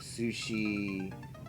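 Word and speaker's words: Sucy: It's spelled like, imagine, it's S-U-C-Y. Sushi. And in Japanese, there's no S sounds before, E sounds. So, it gets pronounced as sushi. Even though it's like sussy.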